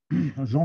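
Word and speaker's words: Jehan: Jean Vasseur, le fils, ça s'écrit comme Jeanne d'Arc, J-E-H-A-N. Hein, je vous dis, c'est une fantaisie de Gaston. Il a souhaité que son fils s'appelle Jean avec un H, ce qui a emmerdé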